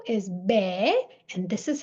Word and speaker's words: બે: Then 2 is be, and this is how it's written.